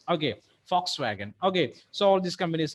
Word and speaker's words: Volkswagen: Okay, but the pronunciation is Fox. Okay, Volkswagen.